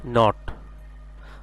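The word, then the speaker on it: know: এর সাউন্ড হচ্ছে কি নট যার অর্থ হচ্ছে গিট এরপর আমরা আরেকটা দেখতেছি কে এনও ডবলিউ সেম কে সাউন্ডটা এখানে সাইলেন্ট থাকবে কে এনও ডবলিউ হবে কি নো যার অর্থ হছে কি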